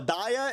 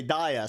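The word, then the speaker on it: Dehya: not going live bro daya is it daya okay daiya sorry sorry sorry hey if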